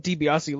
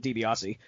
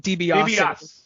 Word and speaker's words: DiBiase: The announcer did not know how to say the last name Dibiase. He kept saying Dibiase.